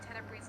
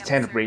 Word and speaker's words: Tenebrae: ends up pronouncing Tenebrae's name wrong. Oh yes, I'm. Yeah, this is the word that I'm talking about there. It's Tenebrae, not Tenebrae.